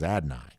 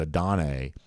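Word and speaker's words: Adonai: his first name is adenai uh and uh I think most of us at adane at least for a long time but I believe the correct pronunciation was adenai um Paul Moon says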